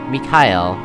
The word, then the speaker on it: Mikhail: Yeah, that's Mikhail. I thought it was just a weird way to say Miguel, but no, that's his name actually is pronounced that way because it's spelled that way.